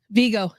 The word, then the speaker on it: Vigo: in a potential sequel well yeah vigo that's how you have i'm sorry that's how you pronounce his name as vigo i wouldn't be surprised